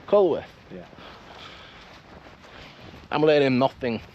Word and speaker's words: Culworth: aren be close together how do you pronounce k down here yeah it's cworth cworth yeah I'm letting him